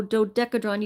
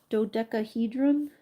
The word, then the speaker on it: dodecahedron: Oh, dodecadron. You forgot to pronounce the he part. Dodecadron. Dodecahedron.